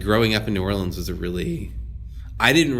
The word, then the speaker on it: New Orleans: in I'm sorry I should just say it nollans not it's New Orleans we don't like knowing when you spell it in awl IMS it's trying to be